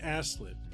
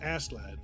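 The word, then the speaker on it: Askeladd: he's a viking named asslip i'm really bad at pronouncing his name but it's ass lad means uh covered in ashes and basically he was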